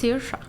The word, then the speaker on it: Saoirse: Can you I know how pronounce it's that? that. You do. It's Saoirse.